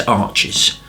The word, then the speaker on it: Arches: Okay, so I've always had a fascination for these arches, and I'm not talking about the watercolour paper, which is pronounced arch anyway.